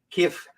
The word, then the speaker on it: Kiev: Because it's two syllables that just blur together. Kiev.